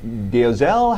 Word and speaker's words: Dolezal: In a statement today, Rachel Dolezal, how do we pronounce it officially? Dolezal.